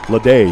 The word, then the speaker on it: Leday: Leday, yeah. Yeah. A lot of these guys have French pronunciations on their names.